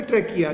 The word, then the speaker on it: trachea: ट्रकिया TRACHEA, इसका जो pronunciation है ट्रकिया, ठीक है।